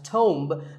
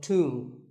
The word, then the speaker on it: tomb: It's often wrongly pronounced as tomb, but the B is silent and the O is pronounced with an oo sound. So tomb.